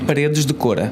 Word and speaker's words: Paredes de Coura: Because how do you pronounce it? Paredes de Coura.